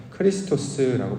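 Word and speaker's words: Χριστός: 이것을 이제 헬라어로 의혹을 하면 크리스토스라고 발음을 하고 이걸 우리 식대로 발음을 하면 그리스도라고 이제 부르게 되는 것이죠.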